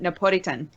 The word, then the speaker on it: Napolitan: Apparently, in Japan, they pronounce it Napolitan.